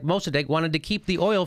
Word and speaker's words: Mossadegh: They had the first democracy, and Mossadegh is how you say it.